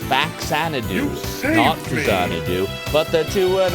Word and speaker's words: Faxanadu: the dragon sler from fadoo that's right it's pronounced faxanadu notado but the two and a half years